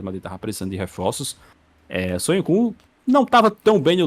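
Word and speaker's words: Söyüncü: Mas tu falou errado a pronúncia, cara. É Soyuncu.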